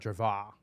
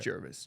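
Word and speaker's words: Jervois: How do you pronounce that? Jervis. Jervis. Jervis. It's not Jerva. No, it's Alright. Jervis.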